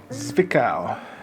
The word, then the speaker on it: Zwickau: Who knows how to pronounce it? Zvika. Zwickau.